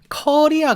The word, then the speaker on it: Korea: 리아 같은 느낌이에요 커리 카레 커리 처럼 커리 아 같은 느낌으로 보통 발음을 많이 하거든요 그래서 나 한국에서 왔어요 라고 할 때 아이폼 코웨이 야간이라 아 잎은 큐베 이야 아이폰 큐브의 이야 이런 식으로 발음을 해 주는게 좀 더 가까운 좀더 원어민의 가까운 발음이 됩니다 아시겠죠 뭐 정확하게 폰에